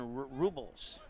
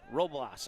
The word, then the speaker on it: Robles: Ramos will toss it in, and it'll go in the direction there of Jonathan Robles. Roblas. I looked at my pronunciation sheet.